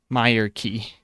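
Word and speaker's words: Myreque: Myerik. Oh wait, is aid the one that adds more to temple trekking? I don't know. Myerik is apparently how it's pronounced by Jagex.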